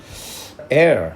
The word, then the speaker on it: heir: 자, heir 이게 H가 묵음입니다. H 묵음.